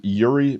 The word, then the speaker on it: Iuri: Um, listeners, this was Yuri, and I'm gonna spell it because it's uh it is Portuguese, right?